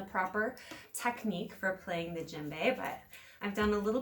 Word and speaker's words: djembe: it is from West Africa and it spelled d je mb e and it's pronounced djembe alright this is from the 12th